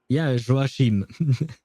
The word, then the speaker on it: Joachim: know it's a name, so names can be pronounced differently from the way we're used to pronounce just regular words. But that would be the way you would pronounce Joachim. So it would be Joachim.